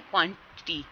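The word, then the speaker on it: quantity: यहाँ पे क्या है, क्वान्टिटी, ठीक है, टी ये क्या है, syllable पे स्ट्रेस नहीं है, फर्स्ट पे होगा।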